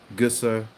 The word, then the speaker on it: Gösser: We're waiting, ladies and gentlemen, for the German seal of approval on my pronunciation of the word Gösser.